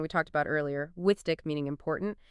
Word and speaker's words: wichtig: Now, for a word with that tricky chis sound we talked about earlier, wichtig, meaning important, it's pronounced wichtig, with that raspy chich at the end.